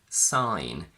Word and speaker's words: sign: GN in final position, where the G is silent again. Campaign, sign, design.